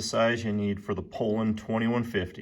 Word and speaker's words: Poulan: said pronounced and it it showed you phonetically how to pronounce it and it was Poland. I probably don't even say it correct every other time because my dad always calls it a pulon and I grew up calling it that.